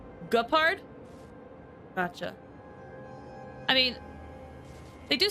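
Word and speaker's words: Gepard: Like, it's a hard G in Japard. Guh. Like, guh. Not gur. Gupard?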